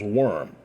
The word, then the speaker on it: wyrm: of course another term for uh dragon is worm which is pronounced w-y-r-m and uh you also have to